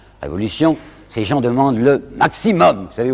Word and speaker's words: maximum: Ces gens demandent le maximum. Vous savez, aujourd'hui on dit maximum, mais ils disaient maximum, alors je prononcerai comme eux.